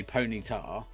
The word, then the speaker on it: Ponyta: is it bombardo I don't know that's like ponytar people call it Ponyta uh is it Pony um I've always pronounced this ponytar like generally whatever the animes